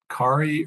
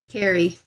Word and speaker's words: Carrie: It looks like the applicant here, and just so I just want to make sure I'm pronouncing, is it Kari or Carrie? Carrie. Carrie, okay, thank you very much.